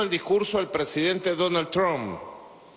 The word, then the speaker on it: Trump: Inclusive, hoy viendo el discurso del presidente Donald Trump, yo le digo Trump, pero me dice que no es Trump, es Trump. Porque se escribe Trump y se pronuncia Trump, como una propaganda que había en la radio.